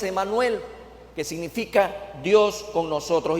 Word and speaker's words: Emanuel: Salvador lo hará Emanuel en el hebreo Este término es immanuel como lo escucha Y en la pronunciación que tenemos al día de hoy es Emanuel que significa Dios con